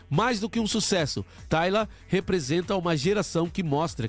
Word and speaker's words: Tyla: Tyla, né, um nome escrito diferente da minha filha, mas é Tyla, a pronúncia é igualzinho o nome da minha filha.